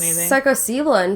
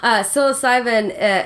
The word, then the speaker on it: psilocybin: other side you know well I've heard since psycho stealin from sorry yeah I'm pronouncing that wrong too psilocybin is supposed to help you with that and